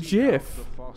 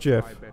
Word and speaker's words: GIF: why are you saying jiff because dude it's pronounced jiff how because I look me laugh yeah we did haunt in the darkness it's totally pronounced jiff how because that's what the owner didn't guy